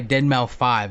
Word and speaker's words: Deadmau5: He goes, my name is Dead, or I go by Dead Mouse 5, is what he said. And he said that's the actual way of how you pronounce it, is what he said.